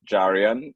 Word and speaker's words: Jarian: It is Jarian. It's like Darian with a J.